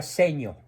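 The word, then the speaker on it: Segno: bien dicho en el pueblito de secno se pronuncia seño seño eh de influencia italiana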